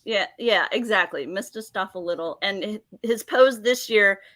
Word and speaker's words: Mephistopheles: Mephistopheles. There you go. I knew I was missing Like a syllable. Mephistopheles. Yeah, exactly. Mephistopheles.